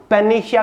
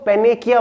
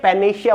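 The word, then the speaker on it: panacea: ये भी important word है, इसकी प्रोनाउंस करेंगे हम पेनेशिया। काफी सारे लोग इसको पेनेकिया बोलते हैं, तो ये पेनेशिया बोला जाता है।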